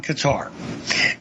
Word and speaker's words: Qatar: My primary focus, however, is going to be on Qatar. And I do believe that is the proper way to pronounce it.